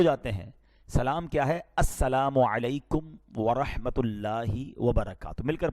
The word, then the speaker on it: السلام علیکم: السلام علیکم ورحمۃ اللہ وبرکاتہ.